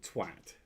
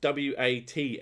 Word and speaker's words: twat: And they have an internet cafe called Twat. T-W-at. And everyone in it called it twat. And I'm like, you don't pronounce W-A-T as what? It would be wat.